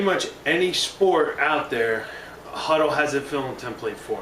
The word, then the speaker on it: Hudl: and that is the film program known as huddle that it's spelled h u DL huddle is a program